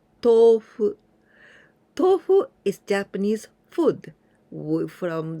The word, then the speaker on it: tofu: The longer sound of this to.